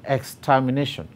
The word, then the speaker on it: extermination: to the last level any word that ends with ion you stress it on the second to the last syllable and therefore if we are stressing a syllable in the word extermination the last the second to the last syllable is nay and therefore d is our answer students should know that